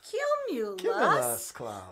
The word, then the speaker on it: cumulus: know what it is three syllables q mu lust let's do that together q u cumulus oh we did a little faster cumulus yes okay that's the